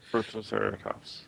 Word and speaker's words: Protoceratops: pronounced? Protoceratops.